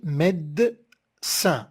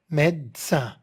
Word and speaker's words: médecin: Regardez, on a fait le découpage syllabique ici, médecin. On ne dit pas médecin, médecin. Et puisque med, la syllabe, elle est fermée par la consonne d, on a mis le e ouvert, médecin, du médecin.